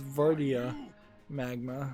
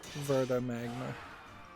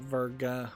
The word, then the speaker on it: Verdia Magma: I've been mispronouncing it. It's Verdia Magma, or Verda Magma. Not Virga with a G.